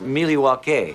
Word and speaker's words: Milwaukee: five back in Milwaukee actually it's pronounced miliwaki which is Algonquin for the good land I was not aware